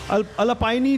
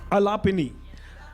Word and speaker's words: Alapini: And can I invite Ms. Alapaini, right? Have I pronounced it correctly, please? No, I really want to pronounce it correctly. Alapini.